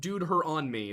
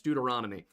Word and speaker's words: Deuteronomy: the sultry stranger danger it is not pronounced dude her on me that it's Deuteronomy oh the other one